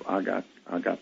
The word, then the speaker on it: agape: We humans, the Greeks brought the notion of agape or agape, depending on how you want to pronounce it, into the forefront over